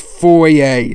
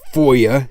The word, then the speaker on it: foyer: It's pronounced foyer, not foyer.